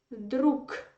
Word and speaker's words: друг: They are curious, why do you write g and pronounce k? Because in the end of the word, you have to pronounce k.